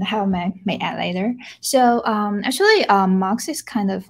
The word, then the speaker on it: MUX: I think we usually pronounce it as a MUX because MUX is actually a short version of multiplexing, which is the word in telecommunication.